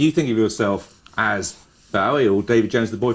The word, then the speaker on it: Bowie: I always thought it was Bowie. I thought, well, it's a Scottish name, must be Bowie. But nobody in Scotland pronounces it like that. They pronounce it Bowie, I think.